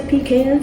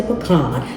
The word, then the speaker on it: pecan: pie some people say pecan some people say pecan it doesn't matter how you pronounce it it's an amazing